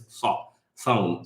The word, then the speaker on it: Sawm: It's not the S sound like we have in English. They have two different S sounds in Arabic, and it's Sawm. So try to pronounce it in the back of your mouth.